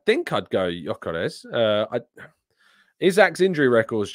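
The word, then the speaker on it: Gyökeres: uh Tom isach or Yokes um which I'm now apparently pronouncing correctly you don't pronounce the G supposedly um uh i' think I'd go yores uh isak's injury record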